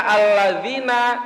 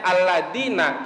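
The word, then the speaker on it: الذين: Nah, kalau kita sengaja dan tahu harusnya alladzina tapi dibacanya alladina, kita tahu harusnya alladzina. Nah, batalat sholatuhu, maka sholatnya batal, tidak sah.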